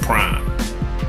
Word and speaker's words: PRhyme: the five nine hy m that's how they pronounce it prime they formed a duo the DJ / producer